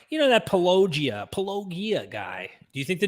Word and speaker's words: Paulogia: Why do Christians not pronounce his name? Just Paulogia.